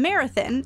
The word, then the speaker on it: Marathon: There are two main entrances into the park, from Marathon, and yes, that is how it's pronounced, and from Terlingua.